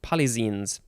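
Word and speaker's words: polyxenes: is papillio palizin polyzines p-o-l-y-x-e-n-e-s i'm assuming it's pronounced polyzenes next we have black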